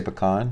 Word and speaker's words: pecan: the way down here in Texas we say pecan okay we don't say pan how do you